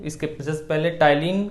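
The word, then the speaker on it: ptyalin: टाइलिन P silent होता है, और लाइसोजाइम।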